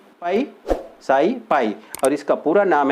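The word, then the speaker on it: Ψ: अब यहाँ पे इसको कैसे प्रोनाउंस करेंगे, this is साई and this is एस, तो यहाँ पे साई और एस, तो इसको ओपी को साई एस बोला जाएगा, या फिर बोल सकते हैं साई पाई, पाई साई पाई, और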